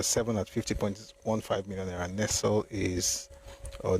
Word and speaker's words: Nestlé: Nestle is or Nestlé depending on how you pronounce it is 46.3 million naira at number eight.